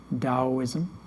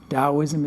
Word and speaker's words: Taoism: know is chinese right chinese pronounce the t like a d taoism taoism is based upon the